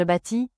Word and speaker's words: bâtis: Au singulier, les trois formes se prononcent de la même manière. Je bâtis, tu bâtis, il elle bâtit. Les consonnes finales ST ne se prononcent pas.